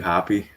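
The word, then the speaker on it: Hoppe: wish um maybe matthew happy i hate that it's pronounced happy i'm sorry i know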